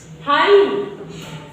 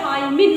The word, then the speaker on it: hymn: हाइम, HYMN, हाइम। Okay, समझ में आ रहा है, हाइम पढ़ोगे, हाइमिन मत पढ़ लेना, हाइमेन।